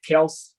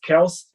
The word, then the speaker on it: Kelce: Que essa semana falou que o nome dele é Kelce, na verdade, né? É assim que se pronuncia. Mas, então, o Travis Kelce, né?